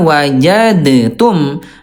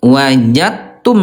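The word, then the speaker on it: وجدتم: Cara bacanya bukan wajadtum tapi wajat wajattum gitu ya.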